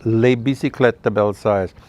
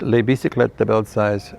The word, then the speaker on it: Les Bicyclettes de Belsize: And you know, nobody could ever pronounce that or say that name properly. Everybody always said it wrong, including me at the beginning of, you know, when I first started.